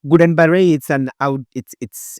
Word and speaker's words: Guillain-Barré: A little bit difficult to pronounce. It's French. When you write it with some small, the barré with apostrophes. So Guillain-Barré, it's a neurological disease.